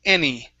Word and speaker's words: any: So this word here in the middle, this is any. Okay, make sure to pronounce that NY.